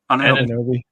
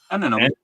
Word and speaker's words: Anunoby: Anunoby. Anunoby.